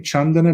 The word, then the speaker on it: Candana: uh under my name chandana uh that's the keyword chandana is is spelled like it's spelled here c a n d n a uh without the H it's um it's a poly name chandana it's spelled